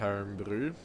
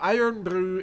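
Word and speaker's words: Irn-Bru: find it because, well, Iron Brew is a Scottish drink. And exactly how Scottish is it? It's spelt IRNBRU.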